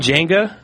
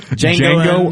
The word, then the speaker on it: Django: Have you seen Django?